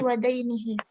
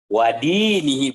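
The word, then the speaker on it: وَدِينِهِ: akhlaq tukhalif akhlaq mujtama'ihi wa dainihi. Wadinihi bukan wadainihi, kalau dain utang dong.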